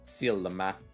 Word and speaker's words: silmä: In Finnish we say silmä. Silmä. The way that they're pronouncing this L, they seem to be adding just another syllable to it.